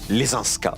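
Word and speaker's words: Leszczyńska: Marie Lesinska. Vous l'avez bien dit. On peut le prononcer à la française aussi, hein. Lesinska, si vous voulez.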